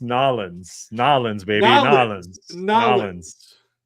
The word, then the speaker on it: New Orleans: You You keep saying New Orleans. That's why in New Or it is New Orleans. No, it's it's pronounced Nalins.